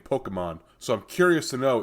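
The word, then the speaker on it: Pokémon: supposed to pronounce Pokemon I think it's Pokemon you know it's got like a little accent over the E like a poke Bowl yeah yeah that would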